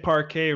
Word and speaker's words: parquet: in that yeah also you said parquet very very much cooler than how I typically have been saying that in my head so not pronouncing the T on the end sounds